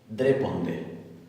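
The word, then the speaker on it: ντρέπονται: En este caso, la tab se va a pronunciar como una d oclusiva. Entonces, esto es dreponde, dreponde, dreponde.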